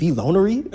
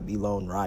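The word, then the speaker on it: Vonry: and I was like is it Vonery? Like is that your name? Is that how you pronounce it? He was like no it's like Von Ry cuz his name's Ryan.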